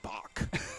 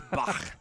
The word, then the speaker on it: Bach: Because all of our music instructors at Montevallo were like, no, you don't say Bach. It's Bach.